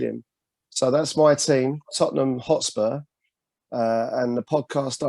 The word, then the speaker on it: Tottenham: so it's oh it's tottenham you can't say it posh you gotta say it like tottenham you know see we